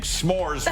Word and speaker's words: s'mores: trepidation what because I'm afraid of saying s'mores wrong about two weeks ago one syllable it's one syllable you hit it I hit it with two syllables and I is still